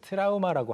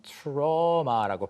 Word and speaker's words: trauma: 우리가 그 트라우마라고 하는 게 영어로는 trauma라고 발음이 됩니다. 그래서 Trauma.